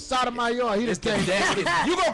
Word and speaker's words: Sotomayor: It's Sotomayor. He just came. You gonna quit mispronouncing my name, making I'll it sound say, like I'm look, playing with kids. we just Sodomizer.